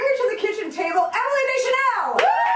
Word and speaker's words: Emily Deschanel: Bring her to the kitchen table, Emily Deschanel! Emily Deschanel! You pronounced it correctly.